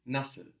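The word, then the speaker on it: nasıl: at the other two the word for how in Turkish is nusle nle so this is actually a new vowel this on the end this nusle nle it's spelled n a s i without a DOT l so in Turkish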